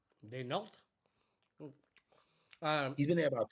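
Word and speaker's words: Daigneault: Mark, I don't know how to pronounce his last name. Denault.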